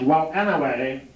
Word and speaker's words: well anyway: It's W-E-L-E-N-A-H-W-A-Y, and it's pronounced well anyway.